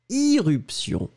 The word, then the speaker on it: irruption: Il y a éruption, mais j'ai prononcé irruption.